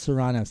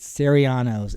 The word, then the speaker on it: Serranos: I went to a roommate and he he could not pronounce Serranos. He always called it Serrianos.